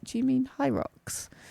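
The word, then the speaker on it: Hyrox: Hyros, but I pronounced it, how did I pronounce it? Hydrox. Hydrox. Yeah. She's like, "Do you know anyone who's um done a hydrox and actually enjoyed it?" And I was like, "Do you mean high rocks?"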